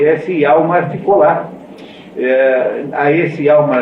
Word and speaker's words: Hjalmar: E ao mesmo tempo, esse Gregers tem um amigo de infância chamado Hjalmar, né, escrito com J, e nessas línguas norte-europeias, o J pronuncia-se como se fosse I.